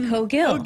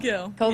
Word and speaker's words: Cogill: I know a lot of people might be a little confused, but it's Cogill. Cogill.